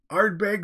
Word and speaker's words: Ardbeg: it's anything like Irish it's pronounced like art bag wit good jewel wit